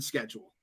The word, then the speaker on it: schedule: The C is silent in the Star Wars galaxy in schedule.